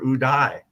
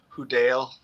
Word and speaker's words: Houdaille: your last name what's the usual pronunciation you get if they don't know yeah if if they don't pick up that's like a real French last name it'll be HUD Dale that's exactly what I